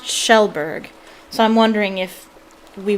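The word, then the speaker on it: Kjellberg: and everybody think it's everybody thinks it's pronounced kajelberg but it's pronounced shellberg so i'm wondering if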